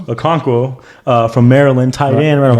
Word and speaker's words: Okonkwo: For example, Okunwa, how you say his name? Okonkwo from Maryland, tight end, ran a 4.52.